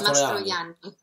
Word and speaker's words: Mastrojanni: Mastrojanni? Very close. The J is silent, so it's Mastrojanni. Yes.